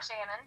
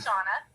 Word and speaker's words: Shanna: It's actually Shanna. It's just spelled a little bit differently, and almost everybody calls me Shanna or Shayna or Shannon, but it is Shanna.